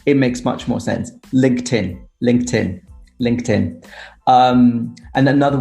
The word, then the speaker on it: LinkedIn: can think of is a lot of people say uh linkedin which drives me crazy yeah you're right it should be linkedin with a t sound